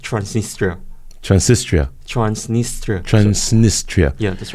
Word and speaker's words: Transnistria: Okay, and so, but this, how do you pronounce that? Transnistria.